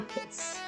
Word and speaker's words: Hertz: Ditulisnya Hz, dibacanya Hertz.